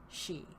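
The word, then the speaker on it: Sidhe: si D H E but it's pronounced she and it's also sometimes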